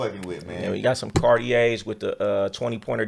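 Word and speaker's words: Cartier: know what you buying it's not cardier okay it's cardier the r is silent yall if you going to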